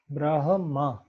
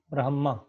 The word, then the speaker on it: ब्रह्म: ब्रह्म, ब्रह्म, ये ध्यान रहे ह म से पहले यहाँ पर अनेकों लोग इसका अशुद्ध उच्चारण करते हैं, उस पर ध्यान देंगे। ब्रह्म, ब्रह्म।